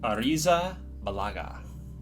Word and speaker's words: Arrizabalaga: Arrizabalaga. That's good. That's a good pronunciation.